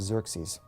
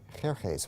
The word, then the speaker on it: Xerxes: So one of these kings in the 400s, his name was Xerxes.